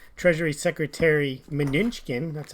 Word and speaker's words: Mnuchin: Yesterday we talked about how Treasury Secretary Mnuchin, that's how I say his name, was on CNBC talking about the potential for the U.S.